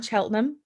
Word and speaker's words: Cheltenham: i going to say it right she's in cheltenham correct which is gloucestershire gloucestershire correct wow well